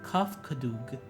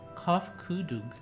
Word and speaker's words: Kofkudug: As for nomenclature to address my individual person, I believe it would be pronounced Kofkudug. Kofkudug.